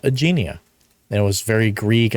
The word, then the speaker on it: Aegeania: How do you pronounce the name of your park? My park name is Aegeania. Aegeania.